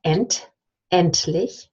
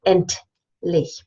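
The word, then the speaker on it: endlich: we have int endless so we have a tea instead of a D because end is at the end of the of the syllable and then what you have is that emptily you don't say int leaf you actually slower the tea into the l it's almost it's actually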